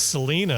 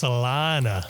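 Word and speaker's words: Salinas: that pronounced correctly Sal when I first moved out here I said it was Selena I know and then this guy with a big cowboy hat passes me on the street and he goes no no it's salana Sal is that how he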